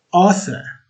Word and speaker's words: Arthur: Now, as jy my naam in Engels reg uitspreek, is my naam Arthur. Kan julle hoor, daar is nie rarig die uitspraak van die 2 R nie.